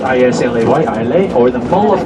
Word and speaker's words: Islay: The island of Islay, it's spelled I-S-L-A-Y, Islay, or the Mull of Kintyre, which is an old song sung as well by Paul McCartney.